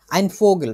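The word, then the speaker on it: Vogel: টাইপের জিনিসপত্র আমি একটা পাখি হইতে পছন্দ করব উচ্চারণটা ঠিক করি ফোগেল ফোগেল মানে কিল মানে হচ্ছে পাখি আমি হচ্ছে পাখি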